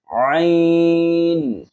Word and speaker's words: ع: অনেকে আইনের আগে আরেকটি হামজার উচ্চারণ করে ফেলেন। কিভাবে সেটি? আইন, আইন এরকম বলার চেষ্টা করেন না।